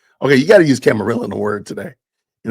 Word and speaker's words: camarilla: Let's see how they pronounce it. Camarilla. Camarilla.